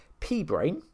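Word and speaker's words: p-brane: P-brain, here, as it's spelt, P-B-R-A-N-E, like you see on the screen, is a mathematical concept that's actually used in string theory and things like that.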